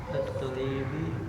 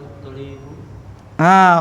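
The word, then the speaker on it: الطالبُ: Kharaja at-talibi min Bukan tolibi. kharaja at-talibu Kharajat talibu sahih.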